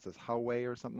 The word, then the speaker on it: Huawei: looks to be like So what is, I can't even pronounce this, Huawei or something like that? Oh, Huawei.